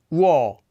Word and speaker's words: 워: Our next diphthong is a combination of the vowels u and o. Wo, wo, wo.